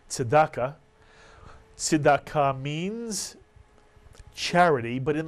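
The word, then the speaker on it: צדקה: Another Hebrew word we showed you before, we also showed it to you last week, Tzedakah Mitsuyan, and Tzedakah, which you'll hear often pronounced as Tzedakah.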